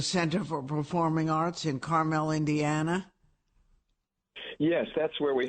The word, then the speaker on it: Carmel: The pronunciation there is Carmel, unlike Carmel by the sea in California. Right. Or Carmel that you eat.